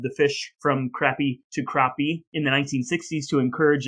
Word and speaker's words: crappie: have been crappy but i watched four different youtube videos of people in alabama fishing for this fish and they all said crappie as well that is my ablutification